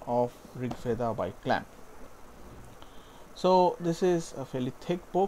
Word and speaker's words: RG Veda: This is Rig Veda by Clamp, and I know it's written as RG Veda, but Clamp themselves said that this was supposed to be pronounced as Rig Veda, so that's what I'm going to refer to this as.